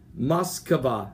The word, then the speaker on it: Moskva: On this today, November the 30th, the vicinity of the Guards missile cruiser called the Moskva. It's spelled M-O-S-K-V-A. Moskva.